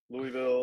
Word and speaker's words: Louisville: kill me if you got a draw it's Louisville there we go okay yeah I mean it all works shout out my Dad's cousin Mike who who taught me that it's it's like it's spelled l-u-l-v-u-l Louisville I would say Louisville I don't know sort